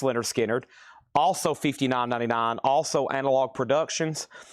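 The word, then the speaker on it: Lynyrd Skynyrd: And then I've got Leonard Skard, pronounced Leonard Skard, also $59.99.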